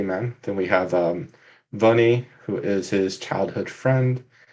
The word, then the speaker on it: Vounée: sure just like vanitas how do you say it bunny sure um it's funny bunny okay cool that's how i'd say it i just wrote it